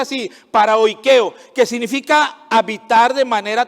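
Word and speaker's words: παροικέω: Hay otra palabra que se pronuncia así, paraoikeo, que significa habitar de manera temporal o como extranjero o peregrino.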